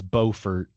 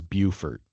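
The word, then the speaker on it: Beaufort: Now I I think one of them is Bowfort and the other one is Bufort. Right.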